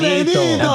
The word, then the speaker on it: Benito: His name is Benito.